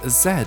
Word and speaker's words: zed: jets with a zed because zed is the correct way to pronounce this letter in english okay now that all